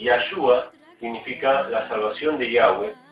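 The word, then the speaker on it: Yahweh: es el lenguaje original en vez de decir Jehová vamos a decir y que es la pronunciación correcta de las cuatro letras que aparecen en el idioma hebreo yahwe significa el viviente el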